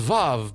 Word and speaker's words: Vav: teth H and W which I think is pronounced VAV but we don't have the V sound in certain languages so we just call